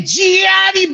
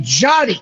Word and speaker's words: Gianni: I've never once when I've called you gone, hey, Gianni Bottles. It's hey, Johnny. It's not Gian.